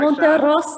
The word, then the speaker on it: Monterosa: like, Sean Monterosa, and they get up there like, Monterosa. I'm like, man, why I can't say it like that, man? Yeah, it's all good, because you know what? It's like, unless you grew up like rolling your R's or kind of, practicing